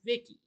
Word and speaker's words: Vicki: And once she's up and she speaks Ted pronounces her as Vicki.